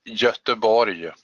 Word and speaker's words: Göteborg: I remember you told me yesterday another pronunciation. Yes, that's Göteborg.